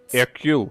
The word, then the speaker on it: Hercule: Hercule.